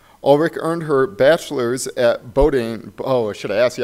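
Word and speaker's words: Bowdoin: in future climates Ulrich earned her bachelor's at boating oh should I ask you how to pronounce that Bo Dylan doing tomato potato boating College thank you and her Masters in PhD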